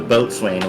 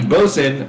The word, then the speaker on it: boatswain: looked it up the boat Swain was for merchant ships was it pronounced boatswain well yeah I mean originally it was however Sailors are going to contractualize it because yeah yeah okay